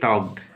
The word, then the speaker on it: talked: They टॉक्ड, THEY यानी TH से द, EY से एकार, दे, TALKED, टी से ट, ऐसे आकार, एल का उच्चारण नहीं होगा, के यानी टॉक, डी का उच्चारण टॉक्ड।